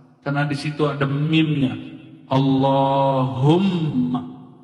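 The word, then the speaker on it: اللهم: di situ ada mimnya Allahumma Gimana cara bacanya Allahumma bukan Allahuma allahum dia mesti ditasdirkan Allah allahum ya dan dia harus men idgham ya ada rahasia di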